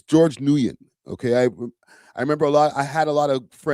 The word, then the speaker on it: Nguyen: I know Flacco like completely botched up the pronunciation of his name, but it's George Nguyen.